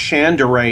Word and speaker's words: Shandera: I think it's pronounced Chandera, even though it's spelled Shandera.